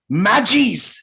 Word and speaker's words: Magi: Priests, जिसका नाम था मैजीज। उन लोग मैजी प्रोनाउंस करता है, लेकिन स्पेलिंग है MAGI, जिसे हम लोग मगी कहते हैं।